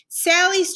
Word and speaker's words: Sally: So for her first name, Sally's trick is that her name Sally rhymes with the word rally.